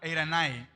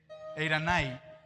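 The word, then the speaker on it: εἰρήνη: Y en el griego es la palabra eiranai, y se escribe eirene, eiranai.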